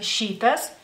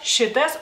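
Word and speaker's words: šitas: escucho claramente digamos así ustedes si ven la palabra shitas de lo más seguro dirán shitas shitas porque esta es la i o sea así es como la pronuncian ustedes en español en lituano no la i cortita este es corta shitas o puede ser como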